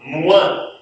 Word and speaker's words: moins: O menos, eu falo moins. É como se fosse um M, U, tá?